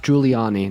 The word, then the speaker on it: Giuliani: do you know Rudy juliani do you know him he was his name his name is pronounced Giuliani not can you wait I'm